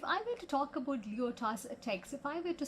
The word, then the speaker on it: Lyotard: The name is pronounced as Lyotard.